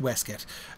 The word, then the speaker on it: weskit: what he has uh in oh what's a weskit a waste coat of course it's pronounced weset um just like v c t u a